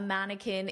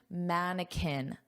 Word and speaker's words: mannequin: So, she wanted to wear the clothes and be a mannequin in the window, but it's not plastic, it's a real person. That's pretty funny, actually. So, notice the pronunciation, mannequin. Kin, mannequin. Mannequin.